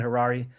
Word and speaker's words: Harary: I'm Harary. My last name rhymes with Ferrari.